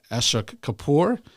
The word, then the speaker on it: Ashok Kapur: Today I'm I'm very uh excited to to welcome our guest uh Ashok Kapoor uh the founder of Ashaka Medspa. Am I correct pronouncing all that correctly?